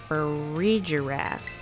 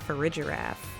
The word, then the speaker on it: Farigiraf: Farigiraf is exactly how you say that. Farigiraf.